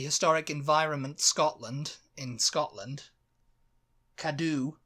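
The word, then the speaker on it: Cadw: environment Scotland in Scotland kadu in Wales kadoo which is spelled c a DW and Northern Ireland environment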